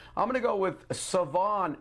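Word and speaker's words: Shavon: going to go with Savon Revel by the way there's an H in it it's not pronounced so at of East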